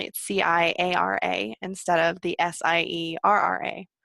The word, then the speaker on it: Ciara: because you asked before we started how to pronounce my name right and my whole life I've gone by as anyone can see with you know the